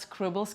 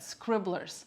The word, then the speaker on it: Scribblers: wrong the whole time it's not scribbles curriculum but scribblers curriculum and scribbles provide fun